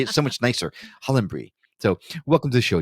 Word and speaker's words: Hollenbury: I did try to use the British pronunciation of your last name. I would say Hollenbury in the American, but it just sounds so plebeian to say it that way, right?